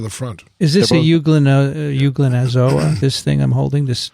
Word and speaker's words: Euglenozoa: Euglenozoa? Euglenozoa. That's how I would say That's it. better because euglena, everyone knows, right?